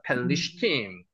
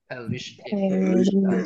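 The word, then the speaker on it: פלשתים: 나메더가 단어의 중간에 들어가면은 앞에도 발음이 나고 뒤에도 발음이 납니다. 그래서 앞에 펠이 되고요. 리얼이 발음 나죠. 리가 다시 한번 두 개로 발음됩니다. 펠리슈팀. 펠리팀.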